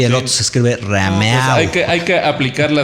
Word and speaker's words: Rameau: De Rameau, ¿no? Sí, que trae, pero es música de Bach, de Rameau, de Couperin, ¿no?